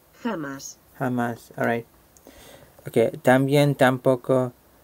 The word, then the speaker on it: jamás: Alright, let's check how this is pronounced. Jamás. Jamás.